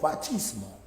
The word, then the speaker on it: fascismo: Oye, ¿por qué pronuncia usted fascismo si dice fascismo? No es que la C en italiano se pronuncia como che, por eso fachismo.